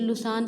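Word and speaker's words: Lausanne: जैसे लुसान है, एक शहर का नाम है बेटे, ये इसका उच्चारण लुसाने है।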